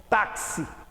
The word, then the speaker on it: táxi: Simples, porque este X de táxi tem duplo valor sonoro. Eu pronuncio o X como se fosse KS, táxi.